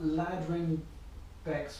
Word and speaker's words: Ladrhyn Bexx: So I've got Ladrhyn Bexx with me today. Mm-hmm. You pronounced that right?